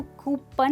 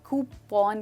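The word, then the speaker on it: coupon: हम इसको कूपन नहीं, कूपन कहते हैं।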